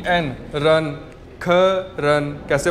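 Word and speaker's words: 客人: Next word हमारे पास है ख, के ई, ख, आर ई एन, रन, ख रन। कैसे प्रोनाउंस करेंगे इसे, ख रन, ख रन, और इसका मतलब होता है गेस्ट्स, मेहमान, ठीक है।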